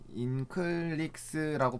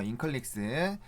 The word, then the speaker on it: 인클릭스: 이게 이제 인클릭시 좀 발음이 좀 애매한데 어쨌든 이게 뭐냐면 수젠텍 홈페이지에 또 나와 있거든요. 인클릭스라고 부르는 게 맞는 것 같아요. 그래서 어쨌든 요게 뭐냐면은 맞네요. 인클릭스.